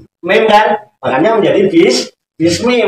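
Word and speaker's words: بسم: kan makanya menjadi bis Bismi walaupun gundul tetap bacanya Bismi kalau yang tahu enggak bakal bismu enggak bakalan bis Bisma kemarin gitu ya terus Ismi nah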